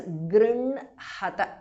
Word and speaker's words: गृह्णत: And please note that गृह्णत, the ha is written first and the na is written next. But while pronouncing it, it has to be pronounced as grinhata.